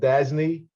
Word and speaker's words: DASNY: But just Denise, it's actually called DASNY, is the way it's pronounced.